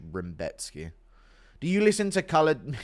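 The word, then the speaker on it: Rębecki: Robotski, Rambotski, his name's Rambowski or Rambetski or some That's how Rebecki is pronounced in Polish. Rambetski, do you listen to colored music?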